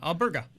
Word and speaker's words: Alberga: Alberga, right, Bilal? Am I saying it right? Yeah, Alberga. Yeah, Alberga.